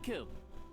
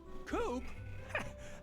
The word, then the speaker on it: Coop: you say mister kilt you can call me coop coop that rhymes with scoop i think we're gonna